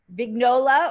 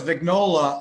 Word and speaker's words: Vignola: big nola or vignolia well no it's vignola although the italian prince pronunciation which nobody ever uses is vignola like lasagna where you know yeah daniola but that is the way people actually say it but even my family says vignola now so oh wow yeah